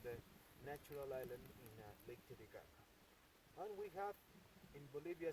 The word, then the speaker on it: Titicaca: So about the name, Titicaca, that's the correct pronunciation, not Titicaca.